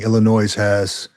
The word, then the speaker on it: Illinois: Sergeant Stacking, Illinois, right? The S is silent.